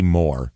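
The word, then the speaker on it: Mohr: This Jonathan Leatherman, January 26, 1982, at 9:30 a.m., he makes a phone call to his buddy, Christopher E. Moore, and it's M-O-H-R, like J. Moore.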